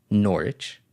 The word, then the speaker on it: Norwich: club called norwich city you don't pronounce the w so n-o-r-w-i-h-c i-c-h i'm sorry norwich i don't know why